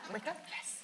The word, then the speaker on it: Wicca: It rhymes with sticker. Wicca?